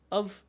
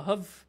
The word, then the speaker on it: have: এবং হ্যাভের উচ্চারণ দুই রকমের হয়, একটা হচ্ছে দ্রুত বলার ক্ষেত্রে আমরা বলি অভ বা হভ, like I হ্যাভ অভ, like I হ্যাভ 10 টাকা, অফ 10 টাকা, অথবা আমরা হ্যাভও বলতে পারি আই হ্যাভ 10 টাকা।